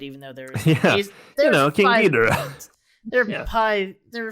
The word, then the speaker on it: Ghidorah: the only cameo that they cite is King Ghidorah.